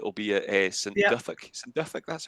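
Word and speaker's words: St Duthac: St. Duthic, that's how you pronounce it.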